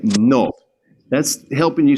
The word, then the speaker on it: no: But what you want to do is push that tongue forward just a little bit more than we do in English. Instead of no, you want to say no.